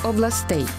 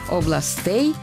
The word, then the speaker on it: областей: Слова «область» і «гість» у родовому відмінку множини мають наголоси на останньому складі – «областей», «гостей». На жаль, диктори на телебаченні або радіо чомусь іноді говорять «областей» і «гостей». Запам'ятайте, це неправильно.